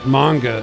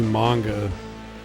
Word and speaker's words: manga: And he was mispronouncing manga as manga. And he wasn't the only one. Like they would like scream manga. And my brother was like, I think it's supposed to be manga.